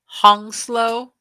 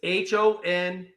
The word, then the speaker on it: hongsloi: And how do you say that name? Hongslow? It's HONGSLOI.